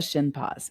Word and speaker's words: Shinpaugh: your last name sure it's like your shin s sh i n and then like a dog's paw but it's spelled p a u g h so Shin paw the shin Paws with an